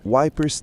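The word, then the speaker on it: Ypres: O mais famoso foi o Wipers Times, uma pronúncia britânica de Epers.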